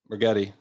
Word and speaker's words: Rigetti: But, rigetti does rhyme with spaghetti.